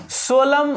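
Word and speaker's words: solemn: सोलम word, N साइलेंट रहता है। एम के बाद एन हो तो एम साइलेंट रहता है, एन साइलेंट रहता है, ठीक ना।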